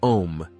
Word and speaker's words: Om: Hindu tradition the syllable om encapsulates this concept spelled Au M the letter A originates from the back of the throat and flows through the vowel U to the lips this resonating Mantra symbolizes